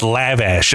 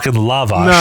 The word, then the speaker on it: lavash: the bread here's the funny thing I was pronouncing it and he was getting annoyed and he was like it's lavash and I was like no it's lavash see here's the funny thing though it's a